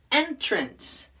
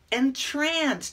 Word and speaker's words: entrance: there are two condom two different ways to pronounce them and two different meanings let me show you entrance you know the opening